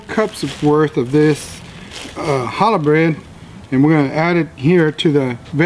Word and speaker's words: challah: It's spelled with a C, and it's called challah bread.